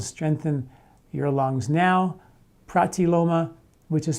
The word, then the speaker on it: pratiloma: those articles is called strengthen your lungs now protiloma which is spelled p-r-a-t l-i-o-m-a pratiloma and the other one is called breathe away